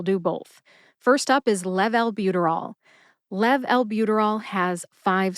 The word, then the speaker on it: levalbuterol: together and you get level buterol emphasize Lev and bu officially gets the most